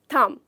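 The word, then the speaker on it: thumb: थम।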